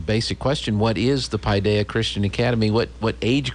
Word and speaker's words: Paideia: and i worked hard to make sure i pronounced it correctly pi paideia christian academy yep did i get it right